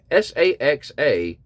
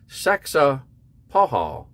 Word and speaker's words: Saxapahaw: It's Saxapahaw, Saxapahaw, and the Sissapahaw Indians. That's Sissapahaw, if you guys want to try to pronounce that yourself.